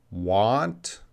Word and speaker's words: want: right so it's pronunciation watch how I'm making these sounds want want and the second one won't won't want I know you guys are that's the same sound it's not the same